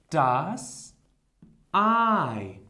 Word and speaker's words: Ei: Das Ei.